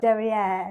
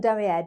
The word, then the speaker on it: derrière: Derrière, assemblé under.